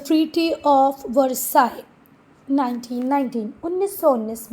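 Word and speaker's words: Versailles: वर्सलीस मत पढ़ना इसको, वर्साई ही है।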